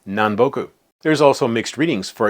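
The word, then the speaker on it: 南北: Put them together, what do you got? Minami kita, right? No, it's nanboku.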